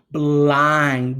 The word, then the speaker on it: blind: Blind, blind, blind. Notice how all of those words said the long I sound and they're spelled with I-N-D at the end, those glued sounds.